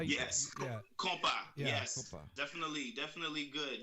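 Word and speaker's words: Kompa: I mean, it was, am I pronouncing this right? Compa? Is that how you? Yes. Yeah. Compa.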